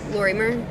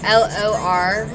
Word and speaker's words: Lorimer: Lorimer? Like Lori, Lori, and then M-E-R. Lorimer? No, Lorimer.